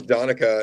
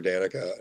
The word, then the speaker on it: Danica: years still call her Danica and she just has like got tired of correcting everyone so because it's it's spelled the same but it's pronounced donica so she feels your